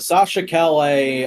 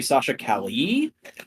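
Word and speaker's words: Sasha Calle: hot toys it's the Sasha Calais I could corrected on the pronunciation for her we're apparently supposed to be Sasha Kelly uh according to one person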